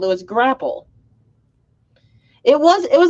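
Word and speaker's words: graupel: oh okay so yeah it is called grapple but it's spelt different it's g-r-a-u-p-e-l grapple also called soft hail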